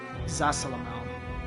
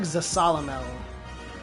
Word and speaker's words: Zasalamel: no there was another I should find first zasalamel he taught me how to become strong enough